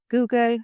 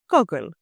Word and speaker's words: Google: The company Google, pronounced as Google, not Goggle. So we'll use Google to conduct our research.